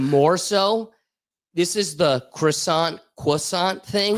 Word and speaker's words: croissant: But even more so, this is the croissant cissant thing. When I say croissant, they go, "No, no, no. It's quissant.